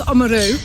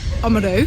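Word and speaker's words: Oamaru: the lady said that you pronounce omarou amaru so that's the correct thing to pronounce it so learnt that and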